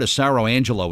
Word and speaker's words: Asaro-Angelo: Jersey Department of Labor and Workforce Development Robert acero Angelo is here to talk about some things that